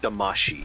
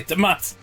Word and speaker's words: Damacy: it's pronounced Damashi, which is crazy to me. I thought it was Damashi the Damashi? whole time. It Yeah, is Damashi. Japanese, not English, yes. Well, in America, we say Damacy.